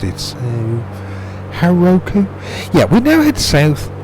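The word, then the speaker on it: Hauroko: only ever written that down before I never pronounced it so Heroku yeah we now head south to we now had to South heroko well that's near enough um where the village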